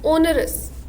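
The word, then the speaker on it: onerous: Now most of the people pronounce this as वनरस. इट्स नॉट वनरस, इट्स ओनरस. ओ है इसका starting sound, ओनरस.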